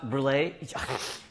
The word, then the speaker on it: brûlée: It's pronounced brulee.